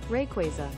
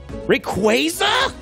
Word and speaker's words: Rayquaza: riolu rayquaza there this is this is fascinating rayquaza rayquaza rayquaza quay hey man is google saying rayquaza and it must be right okay let's let's